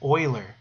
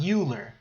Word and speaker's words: Euler: or germany but but the way you pronounce his name is euler so like oil right euler so it's not euler it's euler okay euler's theorem um says